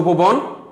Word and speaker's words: উপবন: উপবন, এই যে অর পূর্বে যদি ব অ, অর পূর্বে যদি অ হয়, তা আমরা ওই যে একটা সূত্র বলেছিলাম, যদি অর পূর্বে যদি অ আ এ বা ও বসে তাহলে তার উচ্চারণ কি হবে, ও কারান্ত হবে, তাহলে এখানে ও কারান্ত হবে, তাহলে উচ্চারণ হবে উপবন।